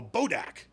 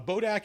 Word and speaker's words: Bodak: A Bodak is the undead remains of someone who revered. God, sorry. I put the emphasis on the wrong syllable. A Bodak is the undead remains